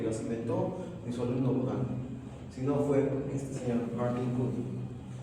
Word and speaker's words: Budin: Solo no, el padre de la neonatología, Pierre Baudin, Budin se escribe.